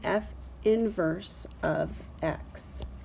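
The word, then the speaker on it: f⁻¹(x): Well, we pronounce that f inverse of x. So this -1 here means inverse of. It's not f to the -1 power. It means f inverse of x.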